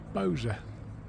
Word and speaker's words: Bolsover: So this is English Heritage Bolsover Castle, although the locals don't call it Bolsover, even though it's spelled B-O-L-S-O-V-E-R, they call it Boser.